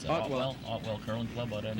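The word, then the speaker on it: Ottewell: Otwell, how do you pronounce that? Otwell.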